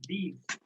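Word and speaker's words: dix: Written as D-I-S, pronounced as these.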